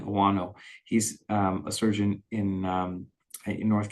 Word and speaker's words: Ouano: Dean Owano, that's spelled DeanOuano, Dean Owano.